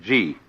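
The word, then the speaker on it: 事: easier to remember than Chinese and easier to pronounce. First of all, the world that is called Ji, J-I.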